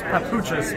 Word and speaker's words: Papuchis: The correct pronunciation is Papuchis, but I go by JP.